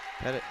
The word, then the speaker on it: Pettit: Pettit, yep. And we made sure we got pronunciation beforehand, and Coach told us it was Pettit.